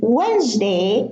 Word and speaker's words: Wednesday: Now, in Wednesday, handsome and handkerchief, we have a silent D in the middle. So it's not Wednesday and it's not handsome. It's not handkerchief. It's Wednesday. We pronounce it as a word, one word, not two words.